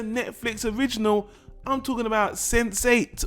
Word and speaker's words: Sense8: original I'm talking about sensate or Sade they say it like sensei sense8 or whatever sense 8 it's a